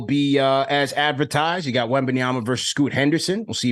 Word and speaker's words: Wembanyama: Make sure you pronounce the name as Tad from New Jersey. Wembanyama.